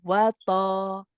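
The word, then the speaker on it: وَطَمَعًا: So instead of saying wata, you're saying wata, ba. It's like you're trying to keep it inside the mouth. Don't separate the mouth and open the mouth so much so that you want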